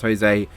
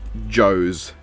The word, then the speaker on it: Jose: assume it's spelled her I'm gonna assume it's pronounced Jose and not Joe's but then Joe's would be funnier anyway in his first